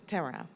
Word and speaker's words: Tamara: It's Sheikha Tamara. I'm so sorry. Rhymes with camera.